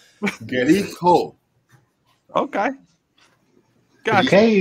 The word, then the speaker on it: Likho: How do you pronounce your band name? Likho.